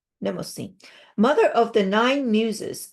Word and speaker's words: Mnemosyne: I think the M is silent. So if the M is silent, then it's Mnemosyne. Mnemosyne.